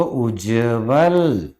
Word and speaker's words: उज्ज्वल: उत प्लस ज्वल, अब दोस्तों ज्वल में वर्ण आधा है और आधा ता भी आधा जा बनेगा, तो उज्जवल, याद रखना, आपको याद रखना है, ये उज्जवल शब्द ऐसा लिखाता है।